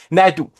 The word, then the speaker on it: Naidoo: Naidoo, merci de le prononcer. Naidoo.